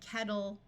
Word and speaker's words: kettle: Now, when English speakers are speaking quickly, the double T sound here often sounds more like a D. So while the word is kettle, in reality, people will generally pronounce it more like kettle, bottle.